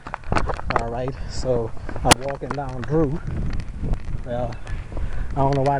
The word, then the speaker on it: Druex: Alright, so I'm walking down Drew. Well, I don't know why they call it Drew with an X.